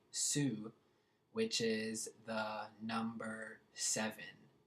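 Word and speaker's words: syv: Su um which is different from syy V Sue which is the number seven so I probably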